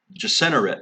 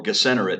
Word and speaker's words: Gennesaret: the west to the plain of Gennesaret, or Gennesaret, depending on how you pronounce it yourself.